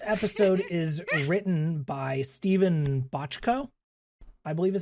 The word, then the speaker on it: Bochco: This episode is written by Stephen Bochco, I believe is how you say his name, who is one of the co-creators of Doogie Howser, MD.